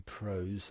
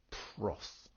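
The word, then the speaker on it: πρός: Remember, an omicron never sounds like an O. That's the role of an omega. So this won't be pros. It will be pros.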